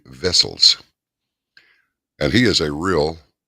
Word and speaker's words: Wessels: And last night we had on, it's spelled TEWIEWESSELS, but it's actually Tievi. It's not Tiwi. It's Tievi Vessels.